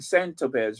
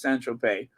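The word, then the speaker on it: Saint-Tropez: agent Ari Emanuel in Saint Topaz rather. Nothing says glamour like Sant. Is it Saint Tropez? It's not Tropez, it's Saint Tropez. I think the Z is silent, right? In Saint Tropez.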